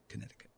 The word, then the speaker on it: Connecticut: You Bobby from Connecticut Connecticut I wonder why the C is silent in Connecticut I wonder go ahead